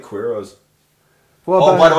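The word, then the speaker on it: Queiroz: no, don't pronounce the U. It's Keros.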